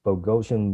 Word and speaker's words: Bogosian: to bring up leslie bogosian murphy am i pronouncing your last name correctly can i tell you you got that spot on i think it was